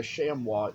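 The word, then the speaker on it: chamois: Etsy that I wanted if you don't know what a shamwa is it is spelled c h a m o i s and it is something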